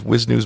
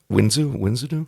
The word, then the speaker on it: Wisnu: Inside the elevator is Wisnu's mother and... Wisnu? Winzu? I think it was Wisnu.